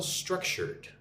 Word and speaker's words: structured: Emphasis on the first syllable, right? Say it like this. Struck. Shirred. It's an R. D. Structured.